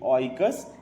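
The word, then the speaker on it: οἶκος: यह जो दो भागों में टूटता है वो है ओकियोस सॉरी प्रोनाउंसिएशन में थोड़ी गलती हुई। ओइकस एंड लोगोस।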